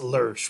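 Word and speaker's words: Lösch: Really, it's pronounced Lurch, right? It's spelled, it's German. Economic Jaffer that comes up with it. Lurch, L-O, and the O has the two dots over it, that umlaut, right? So it's pronounced like le, right?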